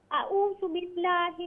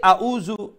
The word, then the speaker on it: A'udhu billah: Okay, so when you say is Hamza, then Ru is letter Ain, not Hamza. So if you say A'uzu, then you are pronouncing two Hamza, okay? It's not two Hamza. First is that's fine, Hamza. Then when you say Ru, that is Ain, okay? The middle throat, Ain. So it's A'udhu billah.